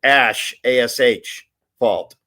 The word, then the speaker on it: asphalt: translated translated and but the guys that make asphalt pronounce it Ash assh fault even though it's spelled asph and uh yeah there's